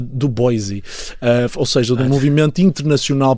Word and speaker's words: Du Bois: Du Bois, eu acho que se pronuncia Du Bois, ou seja, do movimento internacional pan-africano que já propunha a libertação dos povos africanos em particular.